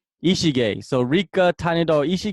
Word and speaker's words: Ishige: and Rica tiny doll how do you say your last name Ichi gay so Rica tiny dog